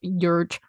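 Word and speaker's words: György: the care of, listen, it's spelled Georgi, but I think it's pronounced Yurge.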